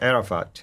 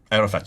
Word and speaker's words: Arafat: of the hjj again it's a talking about Arafat here Arafat yes yes sorry for my pronunciation no no no I just want to